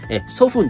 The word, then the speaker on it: soften: は en をつけた場合、soften と t が発音されず